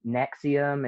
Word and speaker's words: NXIVM: heard anything recently about this um nexium it's it's spelled nxivm it's a very upsetting